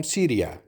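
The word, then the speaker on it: سوريا: फिर अगर आप कहना चाहते हैं रोज़ा इज़ फ्रॉम सीरिया, सीरिया यानी शाम, तो आप कहेंगे रोज़ा मिन सूरिया. रोज़ा मिन सूरिया, सीरिया को अरबी में सूरिया कहा जाता है.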